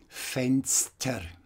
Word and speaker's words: Fenster: But when the S and the T are within a word, and not at the beginning, like here in Straße, it's pronounced as S-T, Fenster, Fenster.